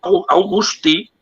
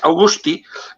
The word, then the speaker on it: Augusti: Y luego está el más importante, el capitán general Basilio Augusti, que le pronunciamos mal, es Augusti.